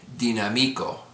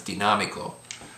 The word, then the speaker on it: dinámico: Dinámico, because it ends in a vowel, the letter O. If it didn't have the accent there, the accent would be on the second to the last syllable, so it would be dinámico. But because the accent, it's dinámico.